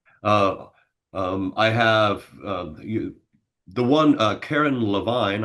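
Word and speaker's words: Carin Levine: Uh, I have the one Karen Levine. I believe I remember her. That's how she pronounces her last name.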